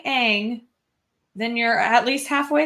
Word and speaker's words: Aang: I mean, if you're saying Aang, then you're at least halfway there. If you're pronouncing the names of your characters right, you're already a few hundred steps above the live action M.